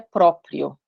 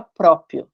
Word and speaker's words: próprio: A maioria de nós não pronuncia próprio, a gente fala próprio, nome próprio e sem esse rzinho aqui.